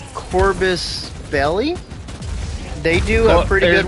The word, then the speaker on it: Corvus Belli: It's done by a Spanish company, which I'm gonna now butcher the Spanish company's name, Corvus Belli. They do a pretty good one. Corvus Belli, you got it pretty on.